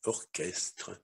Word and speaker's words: orchestre: Но нужно помнить, что есть слова, в которых буквосочетание СХ произносится как звук К. Как правило, это слова греческого происхождения.